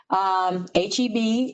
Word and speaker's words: HEB: HEB is initials, so I learned that also. You have to say it that way.